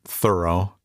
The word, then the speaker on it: Thoreau: they called him lazy thoreau he pronounced it thorough however was not wasting